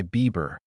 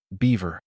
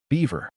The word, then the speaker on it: beaver: That's why my favorite stuffed toy was affectionately called my Bieber. Beaver. Beaver. She pronounced it Bieber.